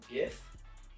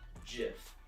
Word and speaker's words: GIF: honestly i pronounce it gif while a lot of other people pronounce it jif this has been explained many times where even the creator of the word pronounces it jif but many studies in